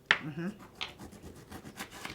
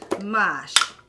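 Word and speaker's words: mâche: oh yeah needs more lime do you agree mhm yeah and this is your new spice rack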